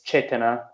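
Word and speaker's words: cetanā: Also, I think I remember there was the Pali term for intention, and it's chetana. Okay. It's volition, intention, or directionality. How do you spell that? It's Cetana, and the last A is long.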